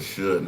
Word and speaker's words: Suge: I like the way the AI voice said, hey, Suge. It's Suge, y'all. There. Pronounced Suge.